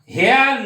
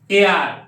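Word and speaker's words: heir: Next, হেয়ার না এয়ার, এইচ এর pronunciation হবেই না, তাই কি করব, ই যেহেতু পাচ্ছি ভায়োল তাই অ্যান।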